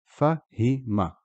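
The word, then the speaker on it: فهمَ: So the word here is fahima, fahima. But here, after the ha, kasra, there is a ya, so the word is fahim. So here it's just him, so the ha, kasra, and the mim, hima.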